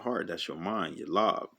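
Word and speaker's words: לב: That's your mind, your lob. That's how you say it in Hebrew, the la and the ba.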